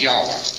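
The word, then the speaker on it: Yahweh: is to be pronounced but more agreed upon pronunciation one scholar so they talk about it is yahwa and this is the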